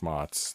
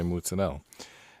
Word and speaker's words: mozzarella: same chemical composition um they don't say fresh mozzarella because that'd be redundant they say fresh moths or they say mootsanel and it's just kind